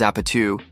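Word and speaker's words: APT.: APT, pronounced as Apatu, is a song about a South Korean drinking game.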